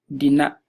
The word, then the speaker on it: dina: so Dina I will and dinner the vowel is short Dina so it refers to he or she so that's